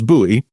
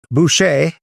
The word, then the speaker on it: Buche: So, I'm saying it as Buoie, but folks uh who can't who would know otherwise, it's actually spelled B U C H E.